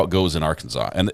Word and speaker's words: Arkansas: you stole their name you changed the pronunciation and you put R in front of it like it's ours Arkansas those are my only